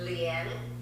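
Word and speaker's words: Lian: The spelling is L-I-A-N. Pronounced as Lien.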